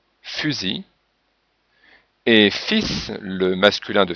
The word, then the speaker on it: fusil: Il, donc la lettre L finale, en général se prononce comme sel, mais dans outil, on ne prononce pas le L, fusil, et fils, le masculin de fille, le L n'est pas prononcé, mais le S est prononcé, fils.